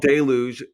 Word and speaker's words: Deluge: You also said deluge instead of deluge, which was interesting. I said deluge. Yeah, deluge. Yeah. But it's deluge.